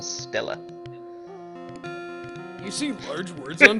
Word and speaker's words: stela: A sepulchral stele? Is that how you say it? Steel, maybe? Granite steel? Stella, I think. Stella. A sepulchral stela.